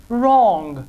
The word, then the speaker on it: wrong: whose hole who WR in the combination W R W is silent and it is usually pronounced like are so wrong now you will never